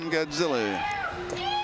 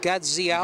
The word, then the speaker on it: Gadziala: Okay, number 21, Whitehead against Tom Godzilla. I think it's pronounced Gadziala. Gadziala, you're right.